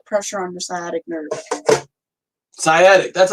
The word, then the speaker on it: sciatic: Sciatic, that's how you pronounce it.